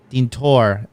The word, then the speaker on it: Deantoir: How would you pronounce that? Deantoir? Deantoir. Deantoir.